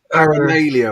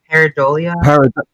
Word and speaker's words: pareidolia: It's paramalia or something, isn't it? Pareidolia.